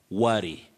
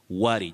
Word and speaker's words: worry: central vowel sound ah worry worry just like sun my son that sound ah is